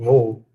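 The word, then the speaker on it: वह: Embora seja escrito vah, né, ou vah, a pronúncia é vou.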